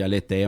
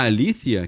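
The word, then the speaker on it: aletheia: o que o pessoal chama de aleteia mas o certo a pronuncia alía em grego a Alícia que é a verdade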